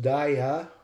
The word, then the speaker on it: diabetes: Now, in English, we can see one long vowel in I, and then two long vowels in the last two E. Only the A stays short. It is pronounced diabetes.